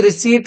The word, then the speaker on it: receipt: ठीक है, और आगे और आप देख लीजिए कि आपकी रिसीट कैसी होती है, RECEIPT, रिसीट, इसका सही प्रोनाउंसिएशन याद रखना है, रिसीट।